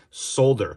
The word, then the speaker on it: solder: hear you typing already solder it's spelled with an L agreed but aluminum isn't